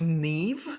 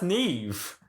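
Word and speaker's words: Niamh: names so you know like n-i-a-m-h or something that's neve yeah no yeah that's neve i mean i guess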